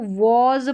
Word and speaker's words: was: इस एस का उच्चारण ज है, था या थी।